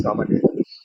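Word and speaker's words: γδ: These are not basically, these are pronounced as gamma delta, not GT.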